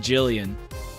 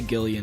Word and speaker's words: Gillian: Or is it Jillian? Sometimes either one you can pronounce it either way, I feel like. I'm gonna say Gillian because Jill and Jill would be confusing to say.